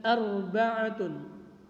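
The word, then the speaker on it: أربعة: Kemudian arba'atun, ba-nya tidak dipanjangkan atau ainnya tidak dipanjangkan, bukan arba'atun atau arba'atun, seperti itu.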